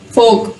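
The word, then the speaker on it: fork: फोक, फोर्क नहीं होगा, फोक।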